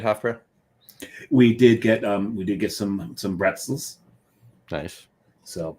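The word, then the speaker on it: Brezel: We did get some pretzels. Nice. So the Germans spell it with a B, but their B sounds like a P, so it's pretzels. Pretzels.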